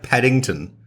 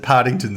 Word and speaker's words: Partington: No, he does pronounce it Partington, so well done.